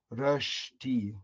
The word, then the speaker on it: Rösti: Rösti Rösti. Actually in Switzerland, they pronounce it even a little bit different. In Germany, it's Rösti. But then in Switzerland, it's Rüschti.